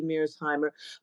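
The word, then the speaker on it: Mearsheimer: it's yeah so it really corre would correctly pronounce it would be MIRS Heimer but I I I I um I I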